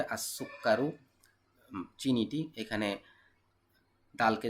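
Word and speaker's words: السكر: তাহলে আত আলিবু ছাত্রটি, এখানে সিনকে যে সরাসরি ধরবে, আসুক্কারু চিনিটি, এখানে দালকে যে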